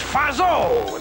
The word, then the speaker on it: Fatso: That's Fazzo. The tea is silent.